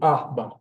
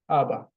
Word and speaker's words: Abba: In Hebrew, it kind of differs, but usually the first. So, Abba, Abba.